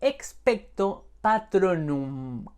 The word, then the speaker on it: Expecto Patronum: de pronunciar el hechizo se dice expect o patrón nun con m al final la traducción del latín